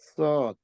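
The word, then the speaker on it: صاد: উপরে তারপর জি শিন শিন তারপরের লেটারটা হলো সদ সদ একই ভাবে আমরা সিন যেখান থেকে উচ্চারণ করছিলাম সেই জায়গা থেকেই করব কিন্তু এটা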